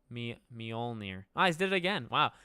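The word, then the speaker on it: Mjölnir: he will in general it's like pronounced me all near no is it how do you say it me you have to have like an O me mjolnir I did it again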